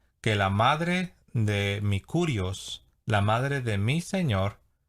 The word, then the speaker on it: Kyrios: pronunciar en castellano sería Kyrios, si lo vamos a decir utilizando la fonética en griego sería Kyrios.